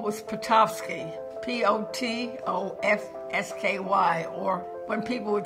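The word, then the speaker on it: Potofsky: name is my maiden name was patski p o t o FS k y or when people would say what I would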